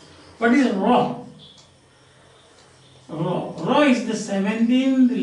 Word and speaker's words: Rho: It is pronounced as Rho. That is our R.